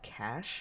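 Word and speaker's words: cache: outside scenery flowing past cach is pronounced cash no it's not nuh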